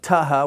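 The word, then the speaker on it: θ: Then we have taha, which is like our th in pothole, and the other is peephole, paha.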